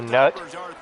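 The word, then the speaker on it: Nuut: when he was born, decided to name and spell it N-U-U-T, so it almost looks like Newt, so nut.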